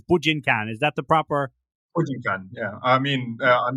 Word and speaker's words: Bujinkan: And then I remember looking at clubs in Dublin, and there was the Bujinkan Brian Dojo, and I think you mean the Bujinkan Carol Dojo.